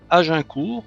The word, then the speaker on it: Agincourt: Allez, bonjour à tous, on est dans Berenson, on vient de récupérer notre archer Agincourt, je vais le prononcer à la française, maintenant que j'ai compris que c'était une référence à la bataille.